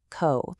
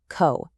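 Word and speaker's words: 子: Our source defines it anomi as she sue and it gives us the nice really simple kunomi of co.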